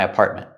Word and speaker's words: apartment: With the word apartment, we have two T's. The first T in the middle is a stop T, apartment. Don't say apartment, apartment. And the T at the end is also a stop T, apartment. You can say apartment or apartment. You can pronounce the T, but usually we don't.